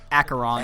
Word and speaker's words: Acheron: We said it like 6 times at the start of the stream to practice the pronunciation, yeah, and we keep on still calling screw up. Archon, but he's like Acheron.